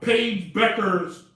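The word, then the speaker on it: Paige Bueckers: all right now in the top 25 uh paige becker's yeah i said it right i set up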